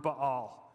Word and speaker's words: Ba'al: husband in hebrew is the word ba'al which we typically in english pronounce baal and we recognize that